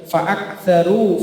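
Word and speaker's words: فأكثروا: Kaf itu bukan qalqalah. Maka di ayat 12 itu ada fa'aktsaru fihal fasad. Aknya tidak boleh fa'aktsaru, ditahan, fa'aktsaru.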